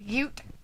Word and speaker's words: Ute: She's dancing like a Alita says that's the way they pronounce it. Ute.